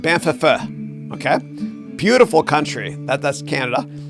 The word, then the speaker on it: Banff: Banff, it's pronounced Banff.